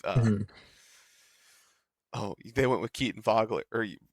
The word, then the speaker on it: Wagler: they went with Keaton Vogler or Wagler? How do they pronounce it? It's definitely spelt Wagler, Wagler. but Okay. they could be pulling a Franz Wagner and pronounce the W like a V.